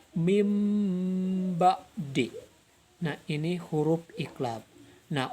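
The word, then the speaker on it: مِنْ بَعْدِ: Serta contoh yang ketiga adalah mim ba'di. Ini pakai m, bibirnya balem. Mim ba'di. Ini enggak dibaca min ba'di atau dibaca ming ba'di, tapi pakai m. Mim ba'di.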